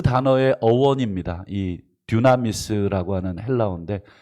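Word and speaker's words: δύναμις: 그 단어의 어원입니다.이 듀나미스라고 하는 헬라오인데 발음도 비슷하죠. 듀나미스, 다이나마이트.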